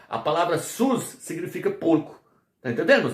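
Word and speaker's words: σῦς: No grego antigo se pronunciava sus.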